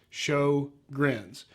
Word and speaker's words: Sjogren's: kind of spelled funny it's actually spelled SJ o gr en but it's pronounced sho grins and what it is